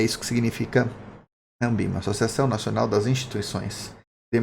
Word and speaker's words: Anbima: Ambima sim se escreve com um N depois do A, devido à questão de ser a Associação Nacional das Instituições de Mercado Financeiros e de Capitais, tá?